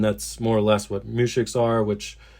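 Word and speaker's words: muzhik: The other word is a mushik. I hope I'm pronouncing that right. It's spelled M-U-Z-H-I-K, and that's another word that you're going to hear a lot in this story.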